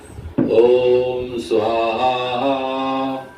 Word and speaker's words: ओम स्वाहा: होता है ओम स्वाहा हम लोग बोलते हैं ओम स्वाहा लेकिन उसको प्रोनाउंस करने का तरीका होता है ऐसा ओम स्वाहा ऐसे तो उससे क्या